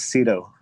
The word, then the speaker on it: Ciro: So let's have Ciro. Ciro, is that how you say it? Hi, everyone. It's Ciro. Ciro.